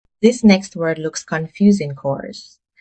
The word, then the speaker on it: corps: cores. The P and S are silent, so it's pronounced core. Example, he joined the Marine Corps after leaving high school.